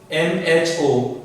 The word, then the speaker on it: mho: So it can be pronounced as MHO, mho, or ohm inverse, or it is used unit commonly Siemens.